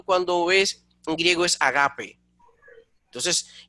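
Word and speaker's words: ἀγάπη: Sin embargo, de momento cuando ves en griego es agape. Entonces, en griego, la acentuación de la palabra es agape, no ágape, es decir, es grave, no es drújula como en castellano.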